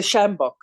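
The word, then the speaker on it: sjambok: more about judicial caning and how do you pronounce it Sam samjak can you say that word again yes the shambok shambak okay which is something that I wasn't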